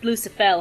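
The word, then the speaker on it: Lucifel: for the record Evan that is Lucifer well it's pronounced Lusa fell here but whatever what are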